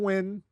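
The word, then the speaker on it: Nguyen: win thank you for NG n is is pronounced basically win that that is that's practically Welsh I'm sure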